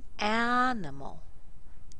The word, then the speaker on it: animal: same pattern da D listen to the first one animal animal does it follow this pattern it does the a is very strong but these two are very weak sounds nimal animal listen to the second